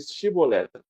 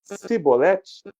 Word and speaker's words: chibolete: vocês falam para ele para ele dizer chibolete se ele dis é sibolete sem conseguir pronunciar corretamente a palavra prenda-o e matavam no